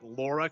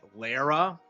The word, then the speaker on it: Lara: speaking of Tomb Raider, I love how like Jeff Gilly callers call uh called her like Laura Croft on stage when it's like Lara.